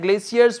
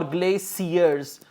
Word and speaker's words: glaciers: them on glaciers and Glaciers were moving floating and they took them there so correct answer for question number five is glaciers or glazers both both pronunciations are correct okay stage three there